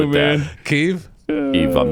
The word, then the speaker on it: Kyiv: You got to say it's like it's still 2 syllables. Kyiv. But I mean, it's been Kiev forever.